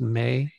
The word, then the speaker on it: me: It was actually the Sumerian word would be me, pronounced may.